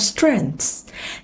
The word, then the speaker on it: strength: Điểm mạnh sẽ là strength. Âm đuôi là âm lưỡi ngậm hờ giữa hai răng, đẩy hơi.